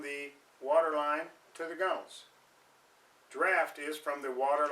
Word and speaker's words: gunwales: Point out that the gunnels, looks like gunwales, but pronounced gunnels, is the top, any place basically where water can come over the boat.